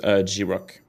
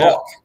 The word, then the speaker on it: Grok: what's happening on the timeline is to use G-Rock. I'm using to build my video. G-Rock, you know the AI on Twitter? You can say... Grok.